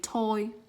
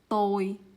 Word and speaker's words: tôi: So in English we say this letter t, right? But in Vietnamese, ta. I don't know how to explain it, but it's just the way we say it. Ta. So for this word we don't say toi, we just say tôi.